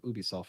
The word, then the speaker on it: Ubisoft: I thought Wildlands was probably one of the greatest games of this generation, but Ubisoft, or Ubisoft as it's actually pronounced, they have on their earnings call they had just a couple of days ago talking about last year's fiscal results.